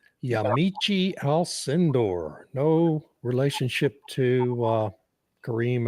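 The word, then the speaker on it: Yamiche Alcindor: But I also wanted to play his chat with how do you pronounce her name? Also, Yamichi Alindor.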